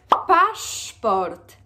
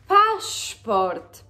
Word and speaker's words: paszport: Paszport. Paszport. What is important is that the letter S changes phonetically and the way you write it actually to the double letter, Polish double letter sz.